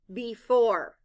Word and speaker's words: before: e in this word the first letter e stands for the short I sound I the letters o r e stand for the sounds or blend both syllables with